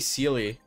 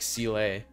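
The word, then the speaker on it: Seele: has a Sealy rcla I keep saying silly but I think when she pronounced her name in the game it was like CLA oh there it is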